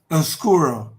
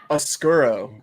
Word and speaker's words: Oscuro: pros say it boom oscuro oscuro god you make it sound so much cooler than i say it it'd be like oscar well this is kinda